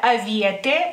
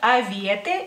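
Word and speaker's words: avietė: lituano frambuesa y frambuesas se dice aiete en singular aiete y en plural avietes avietes la siguiente fruta que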